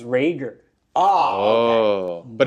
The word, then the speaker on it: Rager: It's pronounced Rager.